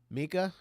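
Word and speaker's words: Meeka: Mika, am I Yeah. saying it right? That's the only way to say it.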